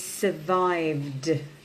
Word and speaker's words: survived: The second one we're going to look at is survived. Okay, survived. The end sound is d.